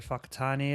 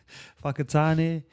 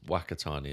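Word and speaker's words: Whakatane: And and that is a real name, Fakatani. But it's spelled like Wakatani, isn't it? Wh Yeah. Yeah. W pretty much. But we say the wh is a f in the mold language.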